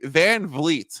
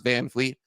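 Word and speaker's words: VanVleet: Dylan Brooks and Fred Van vet tov's F van vit now I assume everyone listening to this is like why is Mike reemphasizing how you pronounce Van Fleet because it's not van Fleet you know when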